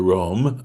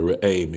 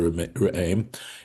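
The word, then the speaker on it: Re'em: According to the version of the the Rome, okay, or the raim, excuse me, is how it's pronounced. The raim.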